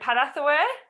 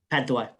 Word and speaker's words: Padthaway: Is it Padathaway? Padthaway. Padthaway. Yeah, that's me, Corinne.